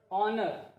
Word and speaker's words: honor: Then honor. Here also H is silent. H is not pronounced.